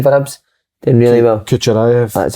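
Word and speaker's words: Kukharevych: Kucherayev.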